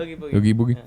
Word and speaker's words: Oogie Boogie: Oogie Boogie.